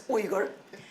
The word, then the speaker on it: Uyghur: Or some of them are afraid of pronouncing it because it's difficult to pronounce. It's Uyghur.